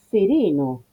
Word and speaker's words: sereno: Pero atento, sereno, sereno, tiene una sola N, no tienen que inventar nada. Ahí permítanse manejarse de una manera natural, sin forzar una pronunciación pseudo-italiana. A ver, no es pseudo-italiana, el italiano tiene muchísimo de esas dobles consonantes, pero no en este caso.